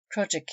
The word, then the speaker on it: crossjack: little ahead of her crossjack yard pronounced COGIC yard the lower yard on